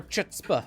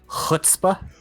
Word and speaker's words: chutzpah: just more gusto more chutzpah if you will in the in the random 1b ones and two V twos that breakout during teamfights I believe it's pronounced foot spa spa like that yeah yeah a little